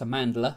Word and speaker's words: Amandla: performance wise Amandla Stenberg I think I've said a name wrong things said Amanda before it's Amandla Stenberg she does the best